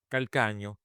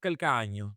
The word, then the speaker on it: Calcagno: So, my last name pronounced in Italian, Calcagno.